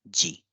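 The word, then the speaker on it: 時: that this symbol represents time and it is pronounced as G so now let's look at the clock one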